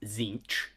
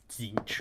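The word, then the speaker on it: Tzeentch: um chance McGinty no it is pronounced zinc just zinch or yeah two syllables to zinch I mean you pronounce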